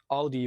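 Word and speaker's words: Audie: Well, Audi, not the car brand Audi, but Audi with an extra E at the end.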